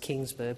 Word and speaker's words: Kongsberg: in partnership with Kongsberg, I think it's pronounced Kingsburg, but in Kongsberg Defence in Australia.